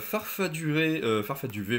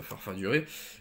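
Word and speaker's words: Farfaduvet: J'ai Farfaduvé, pas Farfaduré.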